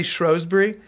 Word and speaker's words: Shrewsbury: FA Cup match with uh strowberry shrewbury it is Shrewsberry see I've heard somebody say shury and so they were